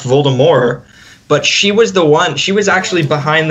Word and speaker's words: Voldemort: Like, just for example, that one time when she came out with the article saying that Voldemort was actually supposed to be pronounced without the T.